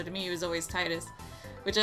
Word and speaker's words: Tidus: and that is that i call him titus i know there's a lot of speculation as if it's titus titus because his name in japanese is tida but they never say his